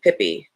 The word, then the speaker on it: Pippi: Hilda Schult but everyone calls me Pippi it's pronounced peee yeah I know sorry